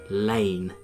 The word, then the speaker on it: Laing: a supplier who had Laing, as it's spelt from Douglas Laing, in their title, and they said Lane, L-A-N-E, and it kind of got instilled in my brain.